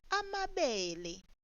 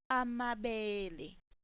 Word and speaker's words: amabele: Now the sorghum would be pronounced as amabele instead of amabele. Note the difference.